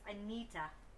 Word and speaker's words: Anita: But yeah, it's Anita, but it's spelled Anita.